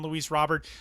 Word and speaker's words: Luis Robert: And it is pronounced Luis Robert.